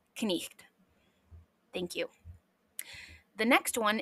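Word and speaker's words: cniht: not a d so this is pronounced like k n which brings us to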